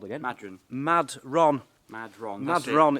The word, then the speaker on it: Madron: corner what is this place called again madon Mad Ron madron mad Ron it's called mad Ron that's how it's spelled anyway right I just want to do